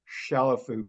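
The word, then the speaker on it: Chalifoux: music world had Alice Chalafou, because if you think about it, number one, the X is silent.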